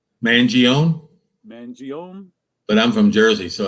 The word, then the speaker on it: Mangione: all right i love chuck how do you pronounce his last name mangione mangione but i'm from jersey so that me maybe